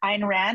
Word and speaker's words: Ayn Rand: It's spelled Ayn, Ayn Rand.